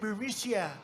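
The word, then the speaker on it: Burisma: executives so this uh bureaucia bermucia they say pronounce it borisia oh it's just painful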